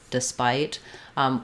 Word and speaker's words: despite: it will help you because despite is unstressed on the first syllable we don't have this essa not despite or despite but rather we're going to have an if here or a schwa i've written it here for you with the schwa like despite really we have a reduced vowel there so in the dictionary you'll probably see despite and you can say it that way that's how i say it but sometimes thinking of